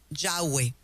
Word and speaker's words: Yahweh: propio es impronunciable porque cuando lo miras son consonantes una y una H una W una H que en sí mismo tiene su significado para que nosotros los latinos podamos pronunciarlo tenemos que colocarle vocales Así que decimos yahwe cuando usted lee la